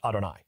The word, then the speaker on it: Adonai: when I do audio books I trans I pronounce it Adonai okay so I will read Lord Adonai because